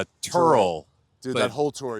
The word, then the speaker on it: Tyrrell: It's pronounced more like Turl.